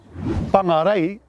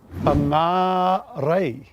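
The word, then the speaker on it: Whangārei: And did you know a place called whangarei is actually correctly pronounced whangarei? Whangarei with a Macron over the second A.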